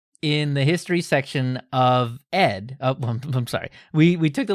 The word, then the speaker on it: ed: So a few folks definitely wanted to point out that the text editor ED is indeed pronounced ED.